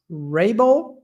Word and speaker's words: Raible: your surname but I believe it would be pronounced Rabel is that it that's correct awesome awesome got